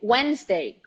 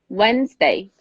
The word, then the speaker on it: Wednesday: conference conference conference conference the day of today Wednesday Wednesday a lot of people have a hard time with this word Wednesday Wednesday you don't pronounce the deep but you